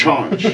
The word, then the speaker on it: Chonch: Chonch.